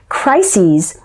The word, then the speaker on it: crises: Crises is the plural form of crisis, meaning a tense, difficult, or emergency situation. Note the different pronunciation of crisis, singular, and crises, plural.